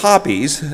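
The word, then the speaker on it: Hoppe's: Um and the pronunciation is Hoppies.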